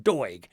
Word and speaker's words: Doig: Is it Doig? D-O-I. What a funny surname. Doig.